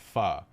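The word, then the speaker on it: pho: etc but in reality the word is actually pronounced fa as in guys i've waited four years for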